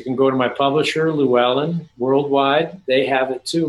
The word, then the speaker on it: Llewellyn: I've always called it Llewellyn for years. I've been reading their books since like I was like 13 years old. Llewellyn. Wow, the correct pronunciation.